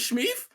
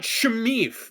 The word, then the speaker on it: Smeef: Is somebody else named Smeef? Is somebody? No, that's you don't just dig into like a name. You don't even fucking say it right. It's Smeef. It's not Shmeef.